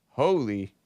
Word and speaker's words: Holi: so I'm like oh it's pronounced Howley I was like is it holy or is it Holly h-o-l-i right it's pronounced holy and uh you know